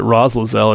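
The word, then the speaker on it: Raslaz: it right it's uh i pronounced it roz lazelle it's r-a-s-l-a-z um so yeah go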